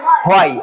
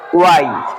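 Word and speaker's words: why: কিন্তু অনেক সময় আমরা এটা উচ্চারণ করি হয়, আমরা বলি কি হয়, আসলে এটার উচ্চারণ কি হবে? ওয়াই।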